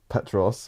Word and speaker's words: Petros: So we have Petros, am I pronouncing that right?